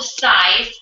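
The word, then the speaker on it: Cize: at summit it's called sighs it's full of the sea but you pronounce it like an S like exercise so say it right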